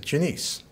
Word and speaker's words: Janice: friend her name is janiece it's spelled like janice but she pronounces it janiece and she's 87 years